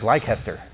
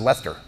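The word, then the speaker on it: Leicester: the names you know it looks like lycaster but it's pronounced lester like what do you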